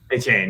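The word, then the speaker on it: Achane: So I think it's A-Chain. A-Chain, yeah, okay. I think is how you say it.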